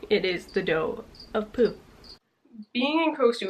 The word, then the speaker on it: Tao: And it is called The Dough of Poo, which I thought was toe. Taoism is actually, even though it's a T, they pronounce it dough, as in Taoism.